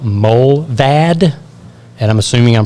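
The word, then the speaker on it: Mullvad: paid version but there's also another one called Mo vad and I'm assuming I'm pronouncing that right and that is spelled m-u-l-l-v-a-d it's Mike uniform lima lima Victor Alpha Delta mole vad VPN both mobile and proton are based in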